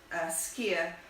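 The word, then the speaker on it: skyr: with this stuff called skier I think that's how it's pronounced it's an Icelandic yogurt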